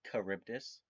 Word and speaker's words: Charybdis: real fast before we uh jump anywhere it's pronounced charybdis thank you i would prefer and the reason